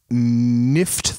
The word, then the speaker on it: Nifft: I'll use this opportunity to sneak a recommendation in for a book called Nift the Lean by Michael Shea. Last name Shea. And it's spelled NIFFT.